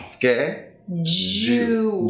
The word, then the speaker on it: schedule: So you want to feel the vibrations here. Okay. It's a voice sound. Schedule. But now let's break it down to two. Schedule And then think as if you have a W-O-L, wol, schedule. Okay. Scared. Wol. Wall. Yeah, because technically it's a dark Schedule. L and then you have an U sound before it, so what you get is that W sound.